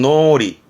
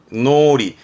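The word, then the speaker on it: 脳裏: 말하는 의미도 있기도 합니다 그렇죠 뇌자 이게 뇌이랑 발음은 노리 노리 을이 흔히 뭐 뇌리에 박혔다 말을 하잖아 뇌리에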